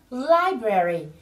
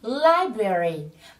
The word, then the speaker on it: library: Again, library. Các bạn chú ý là từ này trọng âm rơi vào âm tiết đầu tiên, mình nhấn nhé. Library.